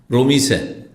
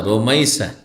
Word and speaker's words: রুমাইসা: রোমিসা কি বলে রোমিসা না রোমাইসা কি বলবেন রোমাইসা যেমন আমার দেশে রোকিয়া